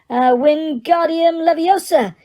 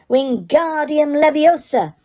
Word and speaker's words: Wingardium Leviosa: Wingardium Leviosa, he shouted, waving his long arms like a windmill. You're saying it wrong, Harry heard Hermione snap. It's Wingardium Leviosa. Make the gar nice and long.